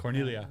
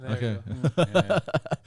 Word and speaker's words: Corniglia: true yeah what corniglia you don't pronounce the G actually when you say it Cornelia Cornelia they don't all like